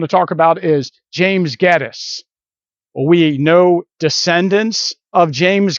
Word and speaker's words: Gettys: all of them agree that the name is gettis and so this is probably gettisberg but if